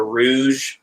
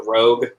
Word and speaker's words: Rogue: And I pronounced it the Rouge instead of the Rogue.